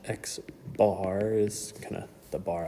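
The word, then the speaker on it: x̄: And so what that looks like with this sigma notation is this is pronounced uh xbar. That's how we say it. This is the symbol for mean and it's pronounced xbar is kind of the bar on top.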